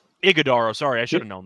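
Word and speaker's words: Iguodala: Booker, Beal, Allen, Dunn, and I forgot to pronounce his name. Ajadaro? Did I get that right? Iguodaro, sorry, I should have known that.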